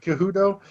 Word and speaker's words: Cejudo: Yeah, Cejudo.